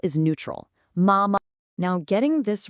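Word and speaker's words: 妈妈: And for mother, we have mama. Mama. Now, notice this beautiful tonal contrast. This is the first tone. It's high and it's perfectly level. It's like you're holding a single clear musical note.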